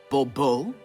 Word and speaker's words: Bobo: fine Monsieur de Bobo the emphasis falls on the last syllable Bobo mm-hmm see now I'd